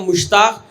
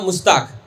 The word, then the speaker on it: मुश्ताक: मैं अगर कहूँगा तो आप कहेंगे कि मुश्ताक, अगर वही दूसरी लैंग्वेज वाला कहेगा तो बोलेगा मुस्ताक। शीन को सीन बना देगा, ठीक है, शीन नहीं